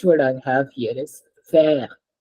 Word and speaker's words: fer: FER is pronounced as fair because I can say this word in one single sound.